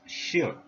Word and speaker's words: 士: meaning scholar to man the pronunciation is she sure in Mandarin on the index we